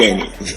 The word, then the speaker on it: Shani: Yeah, that's how you pronounce it. Shani.